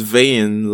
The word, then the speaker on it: Vein: because his name is vain like derived from vanity but his name is spelled v e i n like the blood vessel then he has red